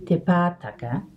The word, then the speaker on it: Te Pātaka: To pronounce Te Pātaka, we can divide it into our sections ending with the vowel sounds. This gives us our e sound, te, and our ah sounds, pa, ta, ka. So these are going to be all the same sound, but the one difference